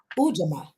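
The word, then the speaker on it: Ujamaa: So we know that we are at Ujama.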